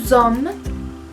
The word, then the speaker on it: sommes: Nous sommes. Como hay doble M, se hace énfasis en esa M y no se pronuncia la S del final.